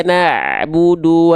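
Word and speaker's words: نعبد: Iyyaka na'budu wa iyya. Pastikan muncung. Jangan cuman iyyaka na'budu. Nah, ini budu ini sedang tidak menyempurnakan harokat dhammah.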